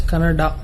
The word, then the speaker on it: Kannada: it's kannada or kannada people from North India should understand that it is pronounced as kannada but is it that